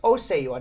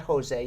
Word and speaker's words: Oseyua: It's Oseyua, not Jose. You were pronouncing it as Jose.